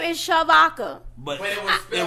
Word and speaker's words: Shavodka: Like my mama spelled my name wrong at birth. But she meant Shavodka though. It's Shavodka. My name is Shavodka.